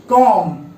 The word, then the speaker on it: comb: पहला वर्ड है COMB, कॉम। इसे कॉम्ब नहीं पढ़ेंगे, कॉम पढ़ेंगे।